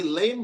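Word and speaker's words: lamb: लेम the clever लेम ये लेम नहीं होता लेम होता है एम के बाद बी हमेशा साइलेंट होता है।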